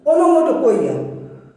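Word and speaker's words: onomatopoeia: वैसे कहना सही नहीं होगा क्योंकि उसका एक्चुअल प्रोनाउंसिएशन वो नहीं, ओनोमोटोपोइया, ओनोमैटोपोइया, पोइया नहीं कहेंगे, लेकिन याद करने के लिए, क्योंकि यहाँ पे POEIA है, POEIA है, पोइया।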